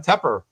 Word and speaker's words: Tepper: Do I always say Tepper by mistake?